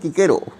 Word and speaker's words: Cicero: তিনি ভেবেছিলেন লাতিন লেখক কিকেরো, ইংরেজিতে বানানটা যেহেতু ল্যাটিনের বানান অনুযায়ী CICERO ভুল করেছি, অনেকে দেখি সিসেরও উচ্চারণ করেন এখানে, যাই হোক লাতিন উচ্চারণ হচ্ছে কিকেরো।